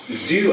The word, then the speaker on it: Zhu: saying oh yeah that that rhymes with Doctor Who Doctor zoo and I was just